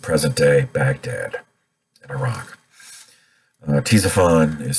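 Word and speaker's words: Ctesiphon: miles southeast of present-day baghdad in iraq uh t zaphon is spelled c t e s i p h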